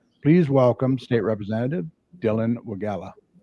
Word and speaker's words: Wegela: part of Romulus please welcome state representative Dylan wagala how you doing sir pretty good um first